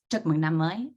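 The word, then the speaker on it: Chúc mừng năm mới: it to be erased um and in vietnamese chocomoogly is how you say happy new year so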